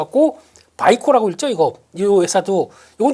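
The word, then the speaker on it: Vicor: 그러다 보니까 이렇게 많이 올랐다고 하더라도 우아 하는 거보다는 그냥 이해를 그렇게 해 달라라는 쪽으로 보셔야 될 것 같고 바이코라고 읽죠.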